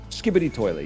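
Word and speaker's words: Skibidi Toilet: Anyway, long story short, Skibbity Toilet is a is that how you say it? Skibbity Toilet, yeah.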